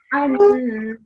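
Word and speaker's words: أنهم: So annahum, not just annahum. You have to keep the noon sound in for a bit longer.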